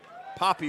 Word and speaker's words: Poppy: And now that'll bring up the designated hitter, Caden Pop. The designated player, number 16, Caden Poppy. Poppy would be the correct pronunciation on that.